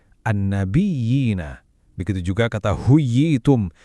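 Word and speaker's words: النبيين: Buat kata an-nabiyina, kita benar-benar tekan ya yang punya tasydid itu baru diayun 2 harokat. An-nabiyina.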